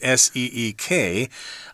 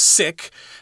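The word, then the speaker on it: Siq: Okay, it's not like the English S-E-E-K. We're pronouncing this as Seek. It's possible it's pronounced sick, but I don't want to say it that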